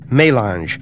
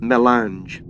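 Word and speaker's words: mélange: Melange. This word is pronounced pretty much as it is spelled. Melange.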